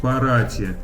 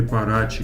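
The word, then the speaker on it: Paraty: Вот, допустим, есть такой городок Парати, или Парачи, как по-португальски правильно говорить, он между Сан-Паулу и Рио-де-Жанейро.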